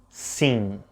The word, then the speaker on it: sim: a simple yes sing notice that while the word c ends with an m you don't actually pronounce it it's more like a smiley vowel scene your lips never touch now that we know